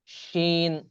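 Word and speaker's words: ش: জিহ্বার মাঝখানে উপরে যে তালু আছে তার সাথে লাগিয়ে এই 3টা হরফ উচ্চারণ হয় জিম, শিন, ইয়া। জিম, শিন, ইয়া।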